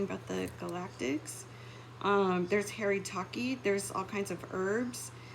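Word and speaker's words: haritaki: third eye um that's something to look into it's spelled h-a-r-i-t-a-k e Harry Taki um there's all kinds of ways to shift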